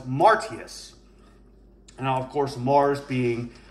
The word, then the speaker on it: Martius: Now, March was named for Mars, and the way they pronounced that was Martius.